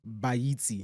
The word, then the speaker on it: Baaitse: It's Baaitse.